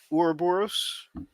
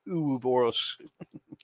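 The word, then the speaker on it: Ouroboros: it or you know in Resident Evil they call it uh Ur borus and some people online especially like dead by daylight they've started calling it UB boros it's so cute it's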